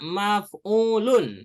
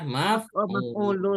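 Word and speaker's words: مفعول: Ingat cara bacanya maf'ulun ya, maf'ulun.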